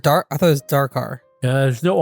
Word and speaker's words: Dakar: I think that's how you pronounce it. Dakar? Is it dark? I thought it was Dakar.